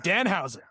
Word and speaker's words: Danhausen: Um, will Danhausen, I think that's how you pronounce his name. That's right. Dan Housen.